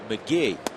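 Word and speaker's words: McGehee: Felipe Lopez that's why Lopez is key it's pronounced McGee he's a guy that was in the Cubs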